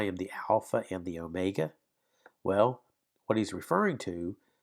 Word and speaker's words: omega: And then you have the word or the letter omega. Omega. O as in note. So you have obey, note.